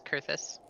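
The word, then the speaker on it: Coerthas: I've been pronouncing it Caerthus. Yep, it's Kurthus.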